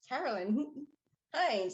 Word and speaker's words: Carolyn Hines: It's Carolyn Hines. And she kept mispronouncing.